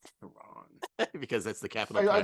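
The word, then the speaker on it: Tehran: streaming on the Criterion Channel Ryan you said terrain it's pronounced Teran Teran because that's the capital I'd like to amend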